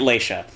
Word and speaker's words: Leisha: I think it should be pronounced Lexia, but I like Leisha. Maybe I should have named her... I'm pronouncing it Leisha.